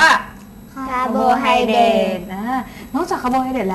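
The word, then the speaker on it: carbohydrate: คะ สาร อาหาร คาร์โบไฮเดรต คาร์โบไฮเดต สะกด ว่า c a r b o h y d r a t e อ่าน ว่า คาร์โบไฮเดรต อ่า นอก จาก คาร์โบไฮเดรด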